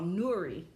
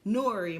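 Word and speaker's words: Nury: city council president of Nuri I said her name wrong Nori Martinez it says she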